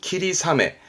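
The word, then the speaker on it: 霧雨: 발음은 키리사메. 아메가 아니라 사메가 됩니다. 조심하세요.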